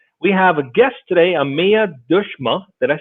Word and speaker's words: Ameya Deshmukh: Start with properly pronouncing your name for us. Yeah, Sure thing. So I'm Ameya Deshmukh.